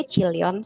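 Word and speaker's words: 칠년: Ini kan Cil ya, CHIL. Ini N. Kok dibaca Cilyon, Sam? Apakah Sam yang salah baca? Tidak, Yorobun. Ini adalah aturan pengucapan dalam bahasa Korea. Jadi kalau L ketemu N, itu jadinya si N-nya bunyi L juga. Gitu.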